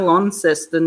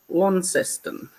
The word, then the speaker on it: Launceston: brought up to say Launceston, and it's spelled L-A-U, and the A-U sounds like an O. And God, the people up here call it all sorts of weird names. They go Launceston, and they sort of drag it out.